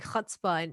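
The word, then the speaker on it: chutzpah: was like you gotta say it like with your chest what can you say it again it's like a hot spot it's a hebrew word it means like when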